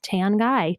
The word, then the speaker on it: Tanguy: And if you're wondering how I spell it without looking at it, it is I'm a pale girl, but my last name is Tan Guy.